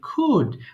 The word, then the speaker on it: could: So we don't need to pronounce L in this word. So simply we have to say could.